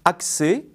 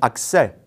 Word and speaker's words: accès: comme un accent aigu on dit accès avec un est fermé et non accès avec un est ouvert même remarque pour congrès